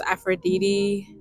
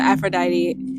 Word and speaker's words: Aphrodite: I like those Aphroditi. That's not how you say it. Act like I didn't say that. The Aphrodite sculptures.